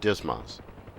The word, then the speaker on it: DSMS: management system or dsms often pronounced dismas we'll conduct this lesson